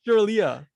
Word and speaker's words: Sreliata: Oh my god, I can't even pronunciate. This is Off to a Sreliata. great start, folks. Sreliata. Sreliata, indeed, yes. Sreliata, indeed.